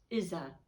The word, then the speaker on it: Isa: is i apologize it is an i and i'm grateful for that it's izza it's pronunciation is isa like an e and it's ice and